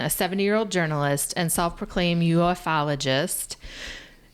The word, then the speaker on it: ufologist: Okay guys, in September, Jaime Maussan, a 70-year-old journalist and self-proclaimed ufologist, how do you say that?